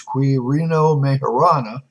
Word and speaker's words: Quirino Majorana: done by I think the proper pronunciation is query no mayorana but I will call them from now on major Anna so I decided to